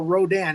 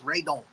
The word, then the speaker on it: Radon: We are doing Radon, or Rodan, as he's known in America. But again, the original pronunciation, the real pronunciation is Radon, which is short for pterodon.